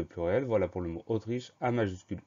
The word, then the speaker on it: Autriche: Le mot Autriche commence par un A majuscule parce que c'est un nom propre. Donc le son O du début de Autriche s'écrit A majuscule U. Ensuite, tri, T-R-I, che, C-H-E.